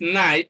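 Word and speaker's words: knight: Then KN here is pronounced N, is night, so the sound is not there.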